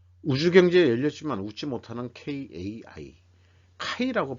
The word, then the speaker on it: KAI: 속에 살고 있네요 우주경제 열렸지만 웃지 못하는 kai 카이라고 발음해야 되겠죠 숙주 선수 줄줄이 낭만 두 번 한